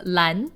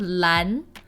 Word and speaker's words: Lan: the next one is Lan so Lan is the Eon representing the hunt Len I think is pretty easy to pronounce also I'm going to call again attention to the a sound Lan LAN and Len kind of